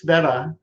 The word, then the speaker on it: Sveta: So maybe we could start like who is Sveta? And I'm saying it right, correct? Yes, you pronounced it right.